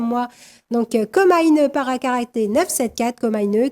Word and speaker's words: Komainu: Donc com parcaraté 974 comine K o m a I n u c'est comme ça qu'il prononce hein mais ça se prononce comme à une e à la japonaise.